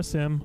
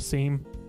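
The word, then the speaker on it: SIEM: for further analysis or sim a seam depending on who you are and how you say it Sigma is vendor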